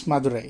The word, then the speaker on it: Madurai: So you started us in Madurai. Am I pronouncing that correctly? Yes, Madurai, yeah, correct.